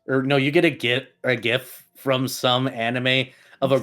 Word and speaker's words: GIF: You pronounce the G not like a J. It's a G. Pronounce it like a G.